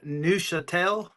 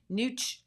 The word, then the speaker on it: Neuchâtel: And you said Neuchâtel. Is that the Nush. name of that? It is. Yes. Neuchâtel? Can you Neuchatel.